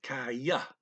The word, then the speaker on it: kaya: The Y is kind of created in the interface between kai and ah. So if you hear it as kaya, that's okay. But just listen carefully. They're saying kaya, kai, ah. But then the yeah is kind of getting created as the interface between those two syllables.